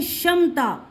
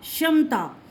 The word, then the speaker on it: क्षमता: Silent हो गया है, व्यंजन क साइलेंट हो गया है, ठीक है। तो श षटकोण की साउंड आएगी तो हम बोलेंगे क्षमता, क्षमता।